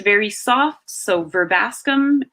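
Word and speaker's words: Verbascum: pronounce so it's usually pronounced e B is pronounced very soft so ver bascomb not where Bascom AE is usually pronounced like meat meat so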